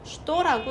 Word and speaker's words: что: 그래서 여러분들도 슈도는 그냥 슈도라고 읽어야 하는구나 기억을 해주시면 돼요.